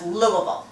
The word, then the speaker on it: Louisville: Now, I know, and most of you who enjoy the sport of baseball know that that's Louisville. Basketball. But it's spelled like Louisville.